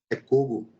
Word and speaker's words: Cogo: canal Dr cogo é é assim que pronuncia o seu nome fica à vontade para se apresentar pro pessoal cugo é cugo cugo cugo fala